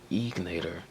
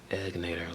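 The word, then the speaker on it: Egnater: too it's called egator a lot of people pronounce it incorrectly they say egator but no she'll be egg natator like bued eggs short e and I know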